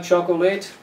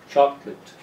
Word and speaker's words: chocolate: Do you like chocolateate? Actually, you don't like chocolateate. You're never late for chocolate. The first syllable is a strong one. So the correct pronunciation is chocolate. Chocolate.